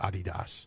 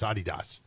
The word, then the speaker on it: Adidas: 25 off whatever it was um the correct pronunciation is Adidas again I see a little yeah well the correct pronunciation yes you know the correct pronunciation is Adidas like in Europe no one says that now